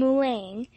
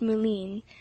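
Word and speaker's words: Moulins: of the way and mulan as matt pronounced moline was reached after a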